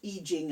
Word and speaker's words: I Ching: I love the I Ching, or I Ching, I should say.